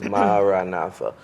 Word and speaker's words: Maranatha: Father Freeman said it's ideal should be 4 syllables, Maranatha.